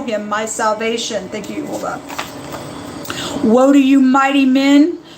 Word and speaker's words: Jehovah: It is the Yod-He Vav-He, and I pronounce it as Jehovah. You may say Yahuwah or Yahweh, but his name, you